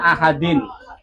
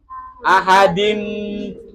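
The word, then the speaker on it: أَحَدٍ: Cara bacanya adalah dibaca deng dengung huruf yang diharakatin ini contohnya ahadin bacaannya tulisannya ahadin tapi bacanya ahadim yaitu tanwinnya masuk ke ke mim terus.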